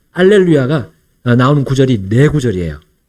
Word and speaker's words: 알렐루야: 이 히브리어 할렐루야가 이제 그리스어로 바뀌면서 첫 번째 글자 H가 이 H 발음, 이것이 탈락된 단어가 알렐루야입니다.